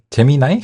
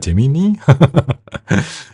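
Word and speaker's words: Gemini: 삼성전자 같은 경우는 이제 구글의 제미나이? 제미니? 쌍둥이 자리라는 뜻이잖아요. 그래서 이제 구글의 이제 제미니라고 읽을게요. 제미나이는 한국어 어감이 좀 안 좋아서.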